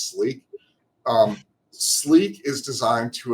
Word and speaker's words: SLIQ: um but that's pronounced Sleek a lot of people say slick but it's Sleek um Sleek is designed